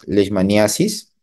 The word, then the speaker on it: leishmaniasis: Bien, mire, el tema de hoy es leishmaniasis. Ustedes pueden llamarlo también leishmaniosis. Ambas formas de pronunciar o de escribir son correctas, ¿de acuerdo?